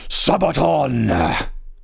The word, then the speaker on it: Sabaton: This is Shiroyama by Sabaton. Sabaton! That's how you say it. That's officially how you pronounce it.